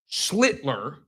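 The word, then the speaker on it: Schlittler: Schlitler, there we go.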